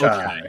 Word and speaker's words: Ochai: So grabbing, is it Ochi? How do you pronounce it? Ochi? I believe it's Ochai.